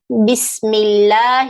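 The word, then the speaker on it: بسم الله: the p sound here don't say smell say miss okay like the way you say biscuit don't say bismillahi some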